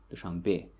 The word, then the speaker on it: Dushanbe: You see the stress falls on the last syllable, Dushanbe.